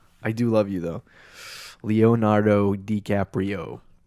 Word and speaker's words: Leonardo DiCaprio: Sorry, Leonardo DiCaprio. I butchered that. That was like a complete destruction of your name. I'm sorry. I do love you though. Leonardo DiCaprio.